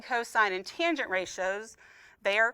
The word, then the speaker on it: cosine: like an intelligent person this is s cosine and tangent it is not sin cos and tan all right um and